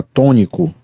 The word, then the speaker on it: tônico: Nós temos uma palavra constituída de 3 sílabas, tônico, em que a primeira é tônica.